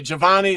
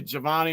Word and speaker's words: Giovanni: Or actually, it depends on how you say it. Giovanni. Some people roll it all into one, so they say Giovanni, or some people say Giovanni.